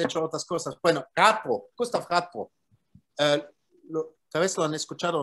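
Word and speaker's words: Radbruch: En alemán se pronuncia Radbo.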